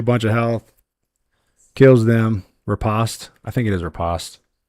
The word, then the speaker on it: Riposte: Riposte or riposte?